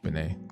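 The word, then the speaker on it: Benét: Just pronounce Benet like Eric. Benet.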